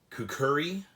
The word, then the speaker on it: kukri: so what is a kukri other than being a really fun word to say um well the kukri or i guess it is also pronounced kukuri um if i'm even pronouncing that right is a type of